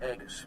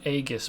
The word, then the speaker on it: aegis: to join the squadron he pronounced it aegis but i'm pretty sure that it's supposed to be aegis with a soft g instead of a hard i deserve to be